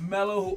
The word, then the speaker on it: Melo: Jer and we got Melo who always plays hello Melo do you say hello because your name rhymes with rhymes with hello melow melow hello yellow